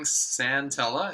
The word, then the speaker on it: Santella: And in case you're wondering, Santella is the pronunciation.